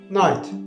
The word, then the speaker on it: knight: This word begins with N, but subconsciously you write night beginning with K. The pronunciation of these words is the same, but they are totally different in meaning.